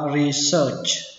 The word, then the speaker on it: research: Đọc là research. Research. Âm ở đây là âm ơ, mặc dù nó ghi là e và a nhưng mà đọc là ơ.